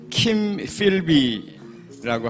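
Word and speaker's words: Kim Philby: 본토 발음으로 하자면 킴 필비라고 하고요. 또 맥카시라고 하죠.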